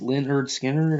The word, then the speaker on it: Lynyrd Skynyrd: now what's the one Lynn pronounced Leonard Skinner I don't know which